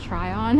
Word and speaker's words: Tryon: is Tryon I guess it's actually pronounced Tron it's t r y